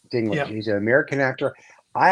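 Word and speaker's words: Peter Dinklage: about about betrayal of I'm going to pronounce Peter's name his last name wrong but his last name is Peter dinkledge d i n k l dingl he's an American actor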